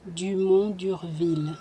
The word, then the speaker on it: Dumont d'Urville: Dumont d'Urville.